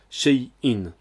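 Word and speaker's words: شيء: On prononce bien distinctement le shin et le ya, muet, ce qui fait shay, puis le hamza avec l'accent in, shay'in.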